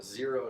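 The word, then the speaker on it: Xero: breathe I went with these zero shoes sports sandals zeros spelled with an X these are actually designed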